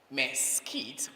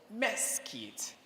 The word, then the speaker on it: mesquite: The second word, mesquite or mesquite. You spell that word this way: M-E-S-Q-U-I-T-E.